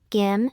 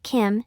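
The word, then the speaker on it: 김: Therefore, as an English native speaker, it would be beneficial for you to pronounce the initial consonant, gim, in Korean more closely to the voiced velar sound, g, than the voiceless aspirated velar sound, k, in English.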